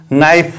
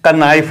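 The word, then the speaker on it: knife: पहले के आया है जब एन से पहले के आए किसी भी वर्ल्ड के प्रारंभ में तो के साइलेंट होता है केक को नहीं पढ़ा जाता है इसीलिए हमने इस वर्ड को नाइफ पड़ा है kannife नहीं पड़ा है अब हमारे पास दूसरा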